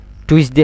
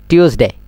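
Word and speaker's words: Tuesday: আবার ইয়ান কি আর এবারে কি হয় হন টুইসডে হয় না এবারে হইবে না টিউসডে টিউস ডেই মানে প্রত্যেকটা শেষে এই এই ডেই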